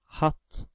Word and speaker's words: hatt: The second word hatt has two T after the A, so A is pronounced as the short vowel, hatt.